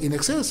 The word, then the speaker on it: INXS: Sí, ya ves que lo escriben como INXS. Es que si tú las pronuncias, sí, eso es In Excess. In Excess, así in es. Exceso.